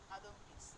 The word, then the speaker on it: Adamkiewicz: বানানটা দেখো, ADAMKIEWICZ, আদমকিস।